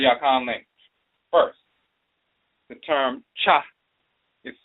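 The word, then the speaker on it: khaa: So when you look in the language of ancient Kemet, the term spelled and pronounced cha, K-H-A-A, cha, to leave, to forsake, to abandon.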